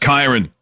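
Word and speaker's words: Kyren: Let's start with Karen Williams. It's pronounced Kyron.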